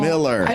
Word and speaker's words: Millar: how you say it, he's from Scotland, and in Scotland you say Miller. I know. It's Miller. Even though it has an AR, but kids out there,